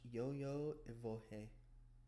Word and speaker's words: Io: begin circling around it clockwise direction while chanting Io. Pronounce oh pronounce yo-yo.